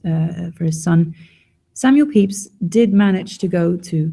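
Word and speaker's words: Pepys: algorithm magazine is Samuel peeps diary do you mind the pronunciation of his name and the way it's spelled they're rather different Samuel peeps was not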